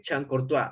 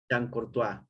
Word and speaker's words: Chancourtois: Alexander Chancourtois.